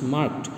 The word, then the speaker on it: marked: Many students are pronouncing it market, it's marked.